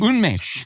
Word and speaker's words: Unmesh: So I'm so pleased to pronounce our guest, Unmesh Dinda. How are you, my friend? Thank you so much for having me and getting my name across 98% right. 98? Unmesh.